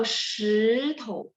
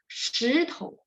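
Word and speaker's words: 石头: Tapi kalau shitou, beda teman-teman ya. Boleh replay lagi rekaman ini. Shitou, shitou, batu.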